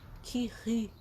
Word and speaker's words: Curie: que é o Curie, nós falamos Curie, com biquinho, é francês, gente, tá?